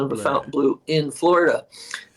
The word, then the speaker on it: Fontainebleau: Fontainebleau in Florida. The company anglicized the name because while they knew it was pronounced the French way in France, Hmm.